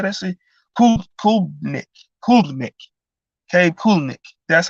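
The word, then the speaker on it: Klubnik: Kulnick.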